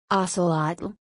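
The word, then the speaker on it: ōcēlōtl: the name acelot comes from the NAU word ocelot pronounced oselot which usually refers to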